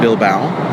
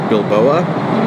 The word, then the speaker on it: Bilbao: Then we went on to Bilbao, rhymes with cow, which in my video the first time I pronounced Bilboa because that's how it's